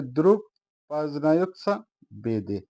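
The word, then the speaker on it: Друг познаётся в беде: প্রথমে রাসায়ন ভাষায় বলছি দ্রুক পাজনিয়ত বেদে আবারো বলছি উচ্চারণ হবে দ্রুক পাজনায় বেদে দ্রুপ বাজনায়েত বেদে এর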